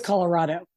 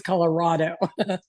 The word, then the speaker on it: Colorado: For me, it's Colorado. So that sounded like raw to me as opposed to... It was raw. Okay. Miles Cortez put it perfect on your Facebook. For me, it's Colorado.